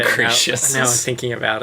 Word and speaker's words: Acrisius: Acrisius. That's how they pronounce it in the movie.